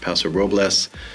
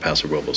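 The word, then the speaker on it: Paso Robles: pronounced pasor Roes uh depending uh where you're from or how long you've been living here it's pronounced both ways if you speak any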